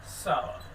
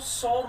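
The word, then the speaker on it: sour: ऑन सावर cream walls, इसको सौर नहीं बोलते स्टूडेंट्स, इसका हिंदी मीनिंग खट्टा होता है, तो इसको हम सौर नहीं कह सकते, इसको सावर बोला जाता है।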